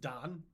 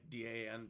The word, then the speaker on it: Dan: It's probably pronounced Don, like D-A-N, but it's Dan. It's spelled Dan.